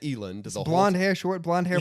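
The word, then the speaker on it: Elend: I pronounced it Elind the whole time I was reading because I didn't want his name to sound like Ellen. I didn't want to see Ellen. So I said Eland.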